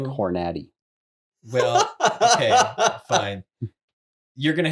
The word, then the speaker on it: Hornady: that's not the only word that it's pronounced Hornady, by the way.